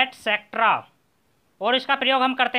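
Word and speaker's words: et cetera: और देखिए एक्सेट्रा, एटसेट्रा, इसका सही प्रोनाउंसिएशन होता है एटसेट्रा और इसका प्रयोग हम करते हैं आदि इत्यादि के रूप में।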